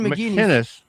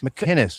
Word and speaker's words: McInnes: Gavin McInness. Gavin McKinnis. McKinnis. It's a hard C. Yeah, there's no G's.